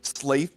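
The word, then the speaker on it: Slathe: I'm Slaith the Space Marine. That's spelled S L A T H E the Space Marine. He's like Sly the Space Marine.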